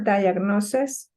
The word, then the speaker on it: diagnosis: It is incorrect because diagnosis is singular, so should be was not very positive, or diagnosis were. Yeah, the pronunciation is diagnosis, like diagnosis. with the schwa sound, diagnosis.